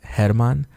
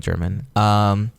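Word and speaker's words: Germán: Okay, so my name is German. It's pronounced Hermann, but these guys know me as German.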